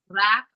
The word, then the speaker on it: wrap: When W R comes together, W remains silent and you can hear the sound of letter R, which is ra.